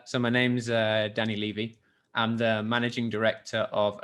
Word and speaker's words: Levy: or something like that uh yeah normally people pronounce it Levy like a tax levy but it's actually Levy but hey I'm used